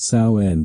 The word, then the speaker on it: Samhain: The pagan festival of sin pronounced saen became all hallow<unk>s eve, the vigil before all saints day.